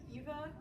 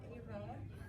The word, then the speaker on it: Eva: a great teacher and my name is actually Eva not AA and thank you for